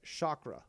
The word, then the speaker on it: chakra: go in depth it's it's pronounced chakra going to Indian